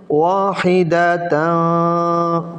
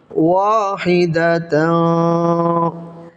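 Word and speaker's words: وَاحِدَةً: তানবিনের পরে এখানে তা এসেছে, তাটা হলো ইকফার হরফ, ইকফার হরফ হওয়ার কারণে এখানে নাকের ভিতরে লুকিয়ে গুণা করে পড়তে হবে। উচ্চারণটা হবে ওয়াহিদাতা, পড়েন ওয়াহিদাতা।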